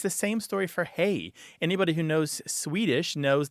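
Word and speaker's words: hej: knows Swedish knows that hay is a fairly standard greeting in in Swedish H EJ and it looks a lot like R he and it sounds like our hey and it is related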